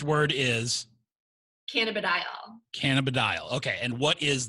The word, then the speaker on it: cannabidiol: Cannabidiol is how you say it.